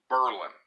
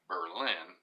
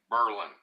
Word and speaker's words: Berlin: it's spelled like Berlin but locally it is pronounced Berlin I would have to say it's clearly named after the city in Germany Berlin but it is pronounced locally Berlin but that is a big riving tourist town